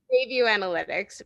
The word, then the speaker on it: Bayview Analytics: Yeah, so looking at the research, the background research, the Bay Analytics Group, I always get the name wrong, but they do, say it again? Bayview Analytics, formerly Babson Survey Research Group.